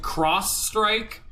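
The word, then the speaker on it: X-Strike: Frog has learned Slurp Slash, and we have learned X Strike, or as it's actually supposed to be pronounced, Cross Strike, but it's X Strike.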